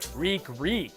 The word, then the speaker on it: Reek: Reek, it rhymes with weak, as in weak ass kill.